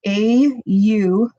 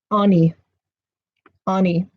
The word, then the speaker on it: Aune: Now, in Norway, I've heard that it has been pronounced Aun, and I don't know